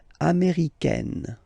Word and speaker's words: américaine: So when you talk about the nationality, américain, masculine form, un, américain, and then feminine form, américaine. Américaine. Okay, it's really open, this A-I.